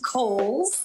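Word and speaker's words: Cowles: much it is pronounced kohl's uh george cole was a an early land owner developer out in the east county area so holes mountain like the department store and back by popular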